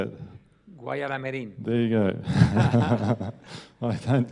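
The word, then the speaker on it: Guayaramerín: I don't know that I can pronounce it the same way as you, but it's Gaya Aramerin. That's how I say it. How do you say it? Guayaramerin.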